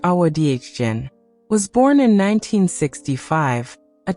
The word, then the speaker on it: Awadagin: Awadagin, pronounced Awadagin, was born in 1965, a child of curious, watchful eyes.